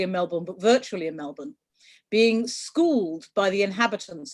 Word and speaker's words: Melbourne: Melbourne, but virtually in Melbourne, being schooled by the inhabitants on how they pronounce the name of their city, which is Melbourne, not Melbourne.